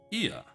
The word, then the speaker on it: Ia: Ia, I believe, was the pronunciation used when referring to our people.